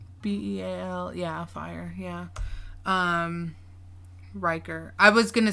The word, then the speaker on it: Riker: Riker. I was gonna spell it RYKER. So Riker, like Will Riker from Star Trek: The Next Generation.